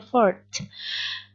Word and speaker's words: fourth: Ada t-nya di belakang, bukan for aja, tapi ada fourth.